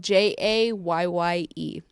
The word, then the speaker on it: Jayye: I'm on Instagram, of course, and then it's just on OnlyFans, but J is spelled JAYYE. So It's JAYYE. yeah, Jay.